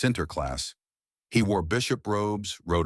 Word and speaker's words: Sinterklaas: The Dutch called him Sinterklaas, pronounced Sinterklaas.